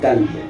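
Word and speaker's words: كلب: Et kalb, al-kalb, c'est le chien. Vous avez vu, si le qaf, tu le prononces en kaf, si c'est qalb, tu dis kalb, tu as changé complètement la signification du mot.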